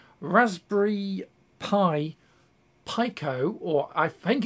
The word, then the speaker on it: Pico: of raster pipe um the actual pronunciation i said is pico which in japanese i think means not like small or tiny and this board is